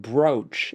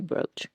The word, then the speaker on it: brooch: No, I always say brooch like rhymes with coach.